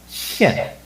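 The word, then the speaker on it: 見: be seen to present to show and it's pronounced shin to present to show to display okay means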